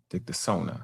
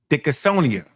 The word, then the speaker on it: Dickinsonia: Dictosona. I believe that's how you say it. I want to say it right. Dickinsonia.